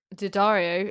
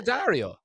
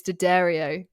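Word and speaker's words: D'Addario: much and so often not Dario it's to Dario the Dario Daddario yeah oh I don't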